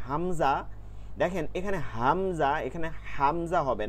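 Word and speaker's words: همزة: প্রথমেও গোলহা পরেও গোলহা গম্ভীর আওয়াজে হামজাহ আমরা অনেকে বলি হামজা এই জিব না এটা হচ্ছে হামজা এরপরে ইয়া খালি আলিফ জবর ইয়া এখানে এক আলিফ টান দিতে হবে।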